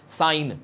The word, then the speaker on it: sine: जब हम इसकी बात करेंगे तो यहाँ पर सिन नहीं बोलते हैं इसको, बहुत ही डिफरेंट मीनिंग हो गया ना उसके लिए। तो साइन, ठीक है ना, लिखेंगे SIN बट प्रोनाउंस करेंगे साइन।